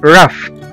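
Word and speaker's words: rough: وزي كمان كلمة رف، رف، رف أو خشن، R-O-U-G-H، رف.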